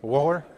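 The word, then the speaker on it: Wöhler: then in the early 1800s 1828 uh Frederick wer is that how I pronounced it is that correct yes woer Wolf Gang wer okay uh fed Waller uh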